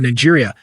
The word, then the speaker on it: Niger: Niger Republic, rather, not Niger State, Niger Republic. Sorry, this guy it may look like Niger, but it is pronounced Niger because it is French.